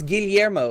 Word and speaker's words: Guillermo: that He's would the be guy who directed pronounced. Pan's no, Labyrinth. it's Guillermo.